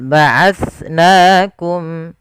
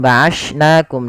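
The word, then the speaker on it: بَعَثْنَاكُم: Jangan sampai kita menggantinya dengan ba'ashnakum dengan sin.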